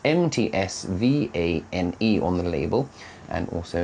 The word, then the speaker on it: Mtsvane: pronounce Georgian wines, but however, so it's spelt Mtsvane on the label, and also in beautiful Georgian script, and he said that it's actually pronounced Mtsvane, so that's quite interesting. So this beautiful Mtsvane wine, let's give it a sniff.